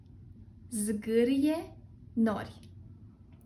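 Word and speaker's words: zgârie-nori: The pronunciation is zgârie nori.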